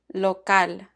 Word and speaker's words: local: Side note, Spanish words that end in AL are stressed on the last syllable. For example, local.